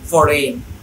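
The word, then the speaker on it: foreign: তাহলে আইজিএন থাকলে জিটা সাইলেন্ট থাকবে। রিজাইন, ডিজাইন, ফরেন, sign etcetera.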